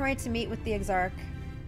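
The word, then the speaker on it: Exarch: to meet with the exarc it's pronounced eggs Arc right we need to talk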